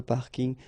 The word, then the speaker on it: parking: tend to use this parking as well so I know it's coming from English but still you should pronounce it the French way parking parking okay and the last